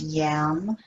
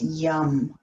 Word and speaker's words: yam: but it's not pronounced yam it's pronounced young like the yummy heart that's two or three